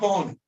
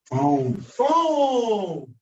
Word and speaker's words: phone: That's not Pahone. It looks like it can be pronounced like that. Right? But according to Our the English English language, that this word, what does it say? phone. Phone.